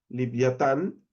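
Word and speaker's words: לִוְיָתָן: En hebreo sería liviatán. Un poquito diferente se pronuncia, pero bueno, se entiende bastante.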